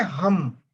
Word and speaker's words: हम: एक साउंड है हम, HUM, हम हम, ये हमारा बोलते हैं, हमारा का हम, हम। आप हम को उच्चारण इस प्रकार से करेंगे कि म यहां पर आके अटके।